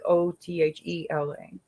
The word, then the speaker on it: Othala: And the rune that is associated with the high priestess is it says Othala, Othala, but it says to pronounce it like Othela.